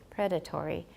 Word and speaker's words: predatory: syllables for me has for predatory predatory but in British predatory predatory how many predatory but are we so sure predatory three is it one or two we don't know other people who pronounced it as predatory say that it has four syllables those of us who say predatory we are sure that's a clear-cut case but if you're British and you say predatory we're not really sure similarly there are many